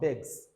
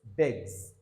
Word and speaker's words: begs: These words listed here, all right, their last S is Z sound in terms of pronunciation. So you don't say he feels good, but he feels good. He feels good, all right. Then begs, not begs, begs, all right. So this is Z sound, begs.